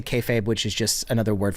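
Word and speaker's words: kayfabe: shoot um and then I'm going to say kayab which is just another word for when it is which I pronounced as kab the other day to Dan and he very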